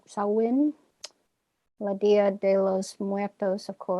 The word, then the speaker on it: Samhain: Samhain, I think is how you pronounce that one word. Looks like Samhain, but I think it's Samhain.